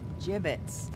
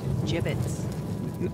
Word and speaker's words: gibbets: some gibbets left over jbits what it's pronounced jibit are you sure yeah